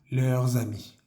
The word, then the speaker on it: leurs amis: Tenemos que hacer nuevamente nuestra conexión pronunciando la S de leurs y la siguiente palabra comienza por A. Entonces vamos a decir leurs amis, sus amigos.